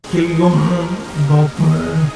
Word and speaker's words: Kylian Mbappé: And then Kylian Mbappé, well, let's pronounce it right. Kylian Mbappé. Right? That's how you pronounce things in French, right?